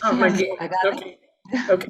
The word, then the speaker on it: Maguey: Maguey, it's Magui.